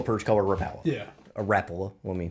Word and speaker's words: Rapala: A Rapala, let me pronounce it correctly, for anybody who might be watching.